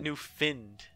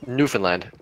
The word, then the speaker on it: Newfoundland: the boss of me it's definitely Newfoundland yeah new Finland's like what the do I know sorry he's new Fionn no its new found no but you people pronounce it new finned where is found plant where's old found land Newfoundland Newfoundland and Labrador no they just found it it's it's in the newly found land like just under goddamn